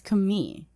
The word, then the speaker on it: Khmer: khmer and i found out that locals actually pronounce it as kami k-h-m-y kami so yeah the khmer rouge rogue